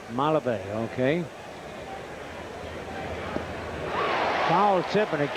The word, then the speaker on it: Malave: ask you sir on how to pronounce that name m-a-l-a-b-e and you helped me out mulabee from the minor league days jose malevae mulliva who said i was wrong i didn't get it right mala bay okay foul